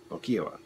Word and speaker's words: Lokiowa: Lo-ki-a-wa. Lokiowa.